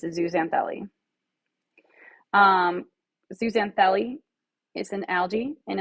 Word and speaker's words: zooxanthellae: Coral polyps and zooxanthellae, or zooxanthellae. I usually say zoo. It doesn't matter. I did put how it's pronounced.